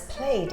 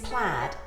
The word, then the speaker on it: plaid: someone who made plaid we sometimes pronounce plaid as played in the UK but the proper word is plaid and it's a Gaelic